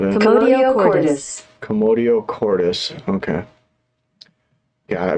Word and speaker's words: commotio cordis: Commotio cordis. Commotio cordis. Okay. God, I butchered it when I said it.